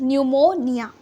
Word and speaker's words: pneumonia: Disease is pneumonia. Okay, here P is silent.